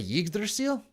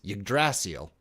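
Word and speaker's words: Yggdrasil: Did you say Yigdil? That's the That's the Dragon Quest 11 pronunciation. If we're going to Tales of Symphonia, it's Ydrasil.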